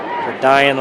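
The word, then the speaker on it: Dayan: 7 yards for Diane Lake that time. D-A-Y-A-N, pronounced Diane. Diane, better than Diane. Yeah. That's the coaches here. Is it Diane? Is it? He said, nope, it's Diane.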